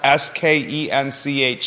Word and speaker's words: Skench: like Ryo isn't Rio okay that says it's pronounced s-k-e-n-c-h skench he's been in the area for 60